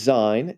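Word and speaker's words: Sein: English with a z it's spelled with an S but they say it like a z so all these German names again his name is Zion and he's the younger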